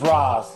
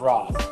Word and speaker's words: Ra's: Neil told me it's Ra's. He gave me a whole story. It's Ra's. Neil told me it was Ra's.